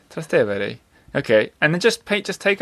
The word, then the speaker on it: Trastevere: Trastevere. Trastevere.